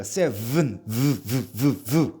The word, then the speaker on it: seven: seven 하면 안 돼요. seven. v라고 발음해야 돼요.